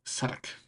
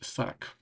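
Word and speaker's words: Southwark: um, and that was called the South Wark, and the Wark is like fortifications, but that eventually became Suddock. This part of town down here um, is pronounced Suddock, and actually extends considerably down south.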